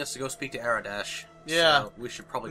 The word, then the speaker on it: Aradesh: Hey, if you have the means to help us, why don't you talk to our leader, Aradesh? Am I pronouncing that right? Yes.